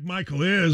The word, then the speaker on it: Michaelis: Dan Dakich here for the Michaelis Corporation, spelled like Michael is, but pronounced Michaelis.